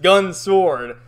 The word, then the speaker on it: Gun x Sword: gun x sword but as most series that have x in it it's not pronounced so it's just gun sword and i gotta say